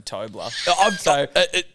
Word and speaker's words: Toby: started at hello sport they called me Tommy that he called me toddler because they thought how that's how my name's pronounced I corrected them and